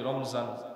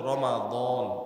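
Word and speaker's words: رمضان: দ আলিফ নুন রমাদান যদিও আমরা বাংলা ভাষায় বলি রমজান রমজান মাস মিমের মধ্যে সাকিন দিয়ে পড়ি রমজান শুদ্ধ উচ্চারণ হলো রমাদান রমাদান আরবি শব্দ রীম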